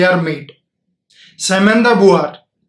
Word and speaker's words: Beauvoir: सेमेंदा बुआर, आप स्पेलिंग देखेंगे नाम की तो कुछ और उच्चारण हो सकता है, लेकिन फ्रेंच भाषा में इसको बुआर कहकर ही कहा गया है।